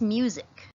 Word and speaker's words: music: This word is music. Music. I also want you to notice that sometimes the letter S can make a Z sound.